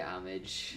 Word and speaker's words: homage: Nintendo likes to pay homage.